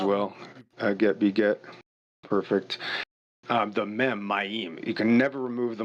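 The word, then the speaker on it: מים: So the word is ma'im. There's two M's in it, but they're mem, right? So it's M, yod, M. But the correct way to say it is mem, right? So mem, yod, mem. 3 letters, it's ma'im.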